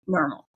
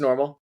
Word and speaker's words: Nnormal: Are we correct when we're saying Nnormal? It's just Nnormal. Yeah. This is a common question. Okay. You are not stupid. Everybody has this question for me. It's just Nnormal, not Nnormal or Nnormal or something.